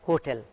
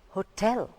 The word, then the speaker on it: hotel: Most of us pronounce it as hotel, hotel, hotel. In English, it is not that. It's hotel. The stress falls on the second part, hotel.